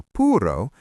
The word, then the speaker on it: puuro: For puro, we add an a. So it becomes puroa.